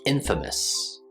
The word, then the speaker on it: infamous: This word is pronounced infamous. Infamous. So even though the word famous has a long A in it, the word infamous does not.